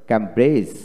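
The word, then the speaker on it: Cambridge: তারপরে ক্যাম্ব্রেজ, ক্যাম্ব্রেজ এখানে ডি উচ্চারণ হবে না।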